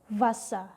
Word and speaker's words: Wasser: Bukan asli W, tapi V. Gigi atas ditempelin ke bibir bawah sekali lagi ya. Jadi V. Contohnya adalah Wasser. Wasser.